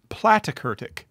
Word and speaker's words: platykurtic: plate we call this platykurtic plat rhymes with flat platykurtic is a flattened curve